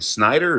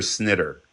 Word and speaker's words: Snider: What do I call you? Snider or snitter. Snitter. But either or.